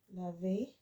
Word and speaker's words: lave: So just remember, laver. This is lave because there's no accent on that.